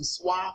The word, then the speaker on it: swai: Have you eaten some swai fish? Or S-W-A-I, however you like to pronounce it, swai.